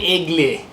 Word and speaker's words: aigle: And when I said Igel, they're like, what are you saying? And then I was like, it means eagle in French. They're like, you mean aigle. Like that's how they say it. They like say it very French, aigle, something like that.